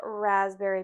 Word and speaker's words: raspberry: Then 0.75 ounces of fresh squeezed lemon juice, half an ounce of raspberry puree. Do you ever pronounce the P in raspberry? No. No? Okay. Just pretend it's not there.